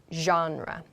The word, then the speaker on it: genre: So you can use like or love to talk about your favorite artists or to talk about your favorite genre. Genre is the pronunciation of this word.